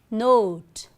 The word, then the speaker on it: note: If we add E, what do we get? The pronunciation is not but note.